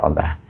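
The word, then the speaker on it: الله: di baris atas maka kita baca Allah Tentukan bunyi Allah itu tepat yaitu hukum bacanya dengan tebal dua harakat Allah itu jadi kalau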